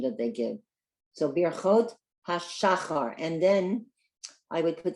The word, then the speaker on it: birchot hashachar: So birchot hashachar, and then I would put the accent on the first syllable, hashachar.